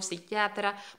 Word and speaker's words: psiquiatra: grandiosos no poderes psíquicos mira en español las palabras que empiezan por esta fe muda ahí a como neumáticos psíquicos psicólogo psiquiatra no se pronuncia para los hispanohablantes es algo muy difícil para hablar entonces se dice solamente aunque se escriba con lápiz y entonces psíquico psicólogo